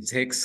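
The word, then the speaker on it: sechs: सिक्स को German में जेक्स कहा जाता है दोस्तों। सिक्स को जर्मन में जेक्स कहा जाता है दोस्तों। एस को यहाँ पे जेड जैसा प्रोनाउंस किया जाता है।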